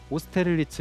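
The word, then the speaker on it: Austerlitz: 전투의 이름을 따서 파리에는 오스테를리츠 여기 있습니다 프랑스식으로 발음을 하게 되면 오스테를리츠라고 합니다 저희 오스텔리츠역 이름을 이름이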